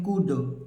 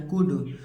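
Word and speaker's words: could: एल को नहीं पढ़ना एल को नहीं पढ़ना है केवल पढ़ेंगे कुड एल को छोड़ देना है कुड इसी प्रकार वुड इसी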